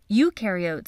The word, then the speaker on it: eukaryote: Eukaryotes on the other hand---remember “eu” rhymes with “do” and they DO have a nucleus and other membrane-bound organelles.